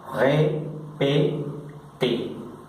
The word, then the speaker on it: répété: Porque cuando este es un verbo, el verbo repetir, répété, cuando termina el verbo en esta consonante, inmediatamente al pronunciarlo, quitamos esta consonante y al quitar esa consonante, esta T viene automáticamente a pronunciarse como si tuviera en el español este acento.